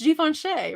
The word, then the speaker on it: Givenchy: It's Givenchy, right?